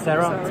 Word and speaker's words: Sarah: How do you say Sarah? Sarah? Sarah, yeah, thank you. Okay, not American English.